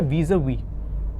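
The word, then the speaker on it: vis-à-vis: तो इसको हम कह सकते हैं इन रिलेशन टू, और प्रोनाउंसिएशन है वीज़ा-वी, ठीक है।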